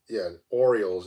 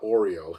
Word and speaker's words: Orioles: Orioles. Yeah, Orioles, not Oreo.